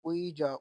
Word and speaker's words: 의: 의자, 의리, 의지, 이, 희망, 흰색, 띄어쓰기, तो ये देखें उसने इसे पहले इल कहकर उसने बोला था उईजा, उईजा कहते हैं चेयर को, उईजा बोला था, फिर उईमी, आगे उईजी, आगे ही